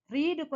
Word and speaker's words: read: ரெட், அதாவது ரீடுக்கு வந்து இங்கேயும் பாஸ்ட் பார்ட்டிசிபிளும் நம்ம ரீடுன்னு தான் போடுவோம். ஆனா இதை எப்படி ப்ரொனவுன்ஸ் பண்ணணும் அப்படின்னா பாஸ்ட் பார்ட்டிசிபிள்ல ரெட் அப்படின்னு பண்ணணும்.